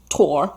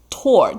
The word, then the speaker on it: toward: In tears, he hops toward the finish line. Toward 的念法我都要I have to remind myself，他那个不发音，他念 toward，那个 W 不要看它 toward。